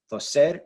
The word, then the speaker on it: toser: We're going to stress the last syllable because they end in R, not a vowel, not an N, not an S. So stress that last syllable, toser. And because we do stress